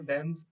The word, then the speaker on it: damn: यहाँ मैं एक खास बात बता दूं कि एम के बाद एन का उच्चारण साइलेंट रहता है, लिखते हैं लेकिन पढ़ते नहीं।